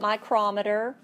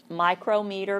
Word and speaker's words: micrometer: So they introduced a new term, and it's called a micrometer or micrometer. Here, I'll spell it for you at the bottom. I pronounce it micrometer. If you'd like micrometer better, that's cool.